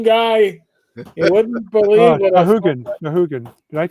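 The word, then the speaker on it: Sahuagin: You wouldn't believe what Sahugans. Did I say that right? Zahooligans? Yeah. Yeah. That right way to say it? Yeah, Zahooligans.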